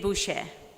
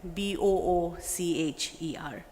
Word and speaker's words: Boucher: It's Boucher. It's like a Boocher.